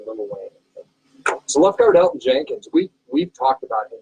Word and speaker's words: Elgton Jenkins: And now number 3, do you pronounce the G in the name that you're going to say for your takeaway? ELGTON Jenkins. But it is Elton Jenkins. The G is silent.